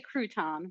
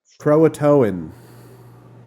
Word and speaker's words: Croatoan: I always want to say crouton, but that is not correct. Croatoan. Thank you.